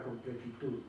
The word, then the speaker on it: completitud: Si nosotros separamos la palabra completitud en sílabas, es completitud. Completitud. Es una palabra aguda.